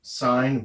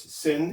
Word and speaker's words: sin: we dro the E we still pronounce it sign we pronounce these two the same sometimes people will call this sin instead of sign don't